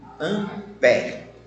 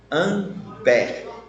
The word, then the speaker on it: ampere: Só que essa relação Coulomb por segundo, nós chamamos de ampere. Ampere. Esse último ezinho, ele é mudo.